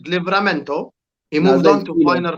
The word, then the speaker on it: Livramento: Say his name correctly. His name is Livramento.